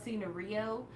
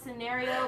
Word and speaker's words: Scenario: still surprised that Love Scenario did so well in Korea. I refuse to call it Love Scenario because they don't pronounce it scenario. They call it Scenario. Scenario. Like Sanrio, Hello Kitty.